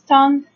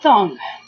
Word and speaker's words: tongue: So it's tongue, and then the second syllable we pronounce g, only g. There is no sound for u and e. So we have tongue.